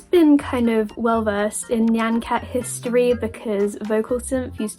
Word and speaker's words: Nyan Cat: So, this is a deep dive into everything Nancat. For the record, I did grow up with everyone around me pronouncing it as Nian Cat. So, I may or may not slip up and say that instead, but I'm trying my hardest.